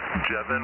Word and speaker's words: Jevin: Jevin rhymes with Kevin.